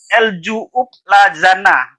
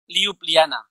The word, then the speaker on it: Ljubljana: El Ju'ub Lazana. Ljubljana. Nah itu dibacanya apa? Jadi J dibaca Y. Ljubljana.